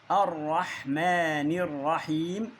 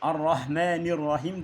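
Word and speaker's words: الرحمن الرحيم: Eee, elhamdülillahi rabbil alemin errahmanirrahim. Aynı arrahmanirrahim değil. Errahmanirrahim.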